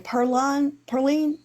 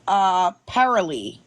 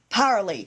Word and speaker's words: Paralee: How do you say her name? Perline? I can't say her name. It is Paralee. Paralee.